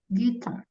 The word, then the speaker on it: guitar: Guitar. Playing guitar. Sama ya. Tulisannya pakai U, bacanya nggak usah pakai U.